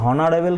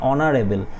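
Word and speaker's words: honourable: এর মত কি বলছি হনারেবল কি বলছি বলছি না আমি এখানে এইচটা এখানে সাইলেন্ট থাকছে এখানে ও দিয়ে উচ্চারণ অনারেবেল তাহলে এখানে কি হবে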